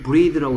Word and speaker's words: breathe: th의 발음이 얘는 번데기 발음입니다. bath. 얘는 똑같이 혀를 무는데 z 발음입니다. bathe. bath, bathe. 얘도 breath, breathe.